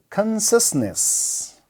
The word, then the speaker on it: consciousness: celebration celebration good consciousness Consciousness all right in English we never say CS okay CS is never wrong it becomes so Consciousness we we have a stress on the first level then X is Liberty